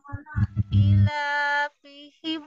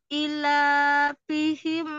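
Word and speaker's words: إِيلَافِهِمْ: Ilafihim I-nya, I-nya. Coba lihat, I-nya panjang atau pendek itu? panjang. Panjang kan? Ilafihim Ila dipanjangkan Ukti Nurroya. I tadi kata Anti panjang ya. Ila panjang.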